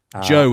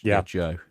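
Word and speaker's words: Zhou: Joe dynasty, uh, spelled Z H O U or Cho Dynasty. I I my Chinese pronunciation is awful. Joe is right. I think mine is terrible as well, but Joe.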